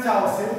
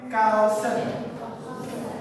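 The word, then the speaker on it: cousin: dulu ya itu itu dibacanya Bukan chausin tapi kausen kausen cobaong kausen semuanya kausen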